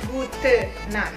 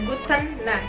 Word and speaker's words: Gute Nacht: Hati-hati, kalau untuk Guten Morgen, Guten Tag, dan Guten Abend itu ada huruf N di belakang Gute-nya ya, Guten. Tapi kalau untuk Gute Nacht itu tidak ada. Jadi hanya Gute Nacht ya, tidak ada Guten Nacht, tidak ada.